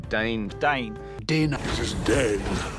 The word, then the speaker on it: Dáin: Diane even gets his own chapter in the appendices, and they pronounce it Dane for some reason. Dane.